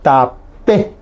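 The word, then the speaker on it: tape: Se escribe, por ejemplo, yo digo tapé, que quiere decir camino, pero pronunciamos más fuerte en la E, pero sin poner la tilde. ¿Vieron? Hasta ahí estamos. Correcto. Camino, tapé.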